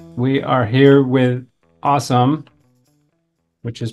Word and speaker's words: Asim: And what's the background of the name Asim? Pakistani name. Parents came in the 60s, early 70s. So typical immigrant story. Spelled A-S-I-M, by the way.